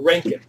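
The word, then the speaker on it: roentgen: useful in term a ranking it measures the radiation exposure in the air but not necessarily how much was absorbed a rank it it's pronounced Rankin so how much Gamma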